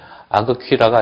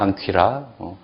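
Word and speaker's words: ἄγκυρα: 그 다음에 아그퀴라가 아니라 앙퀴라, 라링스, 앙쿠사 이렇게 된다는 얘기입니다.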